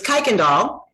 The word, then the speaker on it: Kuykendall: It's Kuykendall. Kuykendall.